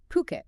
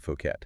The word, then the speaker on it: Phuket: Phuket. Yeah, and that's actually how you pronounce it. Phuket, not Phuket.